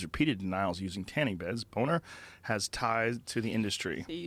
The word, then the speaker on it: Boehner: It's Boner. B O E H N E R. It's Boner. It's Boner. I agree. How do you say how do you get Boehner out of that? That's not Bane.